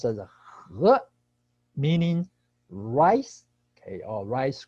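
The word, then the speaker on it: 禾: Okay, and 秋呢 has on the left, okay, a character pronounced as 和, meaning rice, okay, or rice grain.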